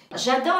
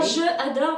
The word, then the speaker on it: j'adore: J'adore la pâtisserie. J'adore la pâtisserie. Pas je adore, mais j'adore J'adore.